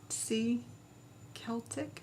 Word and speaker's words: Celtic: Super Chat he's says do you say with a hard C eltic is that how you say it yep not like the Boston Celtics yes yeah all right